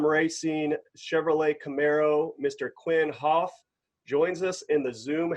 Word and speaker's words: Houff: last name well yeah i think you did get it right it's half um and you can't get